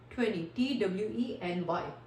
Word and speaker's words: twenty: करते हैं प्रोनाउंस, जबकि उसमें आपने टी को प्रोनाउंस नहीं करना, आपने क्या करना है 20, TWENY, ठीक है, TWENTY 20।